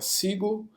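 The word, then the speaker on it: Segoe: então Windows 10 a fonte padrão é é sigle que é a pronúncia correta do dessa fonte é E aí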